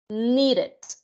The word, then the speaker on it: needed: Ahora bien, tenemos el verbo need, necesitar, necesitó o necesité, needed. Ahí sí, ¿se fijan? Needed. ¿Por qué? Porque es otra de las pronunciaciones a finalidad que tienen los verbos, que es IED, needed.